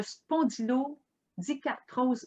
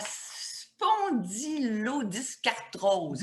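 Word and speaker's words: spondylodiscarthrose: le dire, souffre de spondylodycartrose modérée. Est-ce que je le prononce bien? En fait, juste un instant, la spondylodyscartrose. Dyscartrose.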